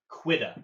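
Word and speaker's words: Quedagh: Uh, I believe it's called the Cuda. I'm here. I'm here. I'm here. Sorry, it's is it pronounced the quuda? Quiquida quida.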